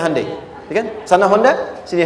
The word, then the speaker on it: Hyundai: bikin Honda sini Hyundai Hyundai kan dibacanya hundai ya kan sana Honda